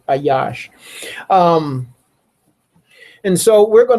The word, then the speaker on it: Ayash: pleases uh Yahwh delights her aash or some people can say Aish. Uh it's um Alfad Shan. Uh so I pronounce it Ayash.